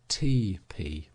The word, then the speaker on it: teepee: the Indian lodge or teepee, pronounced TP, and even it is